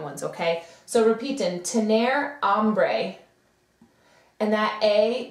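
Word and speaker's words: hambre: okay so repeating tener ombre and that a that H is silent so it just sounds like it starts with an A tener ombre which is to be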